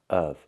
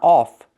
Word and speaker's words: of: It's pronounced of. Use the closed short sound. Like cup and up. Of. Plus the V sound. V. Of. Not off, but of.